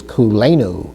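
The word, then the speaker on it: כולנו: Let's take a look at that in an example, which is kulenu. Kulenu, that almost sounds like a Hawaiian word, doesn't it?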